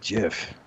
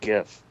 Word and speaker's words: Jif: fast buster i've got jiff it's pronounced gif no it's jif that one has a j the other has a g i wish i had